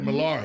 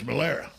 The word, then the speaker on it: Malera: I've been saying Malara, but it's Malera.